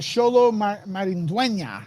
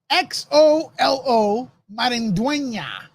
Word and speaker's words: Xolo Maridueña: And then, the big news came out that Xolo Maridueña, that's how you pronounce his name. Now, Xolo, Xolo Maridueña. Okay? When you have the accent on top, you have to go, yeah, make that sound in Spanish, right?